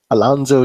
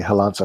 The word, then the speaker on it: Alonso: Alonzo Jesus. Actually, sorry. I know that's not how you say it. It should be Alonso Jesus, right?